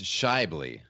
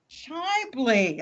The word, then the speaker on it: Schaeuble: Schaeuble. Is that how you pronounce it? I was looking that over and I'm going, does that sound right? It's a tricky one. It's Schaeuble. Schaeuble.